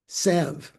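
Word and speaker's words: salve: S A L V. How do you say that? Savv. I guess you don't sav you don't you don't hear the L right one of those words um so I wanted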